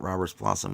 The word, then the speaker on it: Roberts Blossom: know um that bull says jesus i thought robert's blossom was the grandmother in the adams family color